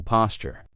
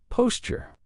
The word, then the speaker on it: posture: Grace used to be a dancer, so she has wonderful posture. Notice how I pronounce it. Posture. Posture. That's because AT and AE sound together, we make chi. Posture. Same as Tuesday tuna, okay?